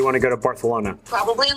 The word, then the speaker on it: Barcelona: to fly to Barcelona do you mean Barcelona Barcelona it's how the locals say it actually um I should